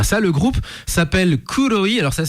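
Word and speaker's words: Kroi: Le groupe s'appelle Kouoi. Alors ça s'écrit K R O I mais ça se prononce Kouoi comme noir en japonais.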